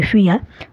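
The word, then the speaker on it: vier: দেখুন, 0কে জার্মানে বলা হয় নুল, 1কে বলা হয় আইন্স, 2কে বলা হয় সোয়াই, 3কে বলা হয় দ্রাই, 4কে বলা হয় ফিয়া, 5কে বলা হয় ফুনফ, 6কে বলা হয় জেক্স,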